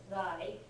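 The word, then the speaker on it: 来: Kuru, which, by the way, this kanji by itself, when it's the onyomi, the Chinese reading, is usually pronounced rai, as in raishu, next Ah.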